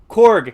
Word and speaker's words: Korg: So Korg, his name's Korg, right? Korg is Okay, I keep saying his name wrong. I keep saying Krog.